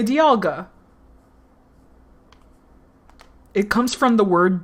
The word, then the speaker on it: Dialga: supposed to be like dialga people pronounce it dialga even though the pun is dial guh like the dial of a clock but no no it's dialga because you so it's whatever